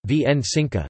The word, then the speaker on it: Święconka: In predominantly Roman Catholic Poland, Świętonka, Polish pronunciation, Wsinka, meaning the blessing of the Easter baskets, on Holy Saturday, is one of the most enduring and beloved traditions.